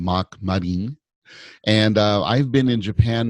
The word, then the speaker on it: Mark Marin: As we pronounce in Japanese, I'm Mark Marin.